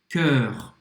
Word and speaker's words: cœur: O som é igual. Sœur, cœur.